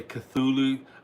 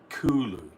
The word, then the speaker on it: Cthulhu: Some people say Cthulhu, other people say because it's KT, it's Kulu.